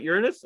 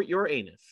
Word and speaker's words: Uranus: Mercury Tara seven uh you can easily pronounce that Uranus or your anus I was always Uranus when I grew up in grade school there's children present Carl